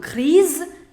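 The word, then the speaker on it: grise: to make it plural so grease grease i also told you the pronunciation of masculine singular and masculine plural will always be same and the pronunciation of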